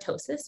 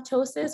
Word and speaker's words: ptosis: And if you're wondering, like, okay, do I have ptosis? What is this weird word that has a silent P at the beginning?